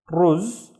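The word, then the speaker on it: رز: So the first syllable is il, ruz. Now ruz was rice, so il ruz means the rice, and then har, har, which means hot. El ruz har, the rice is hot.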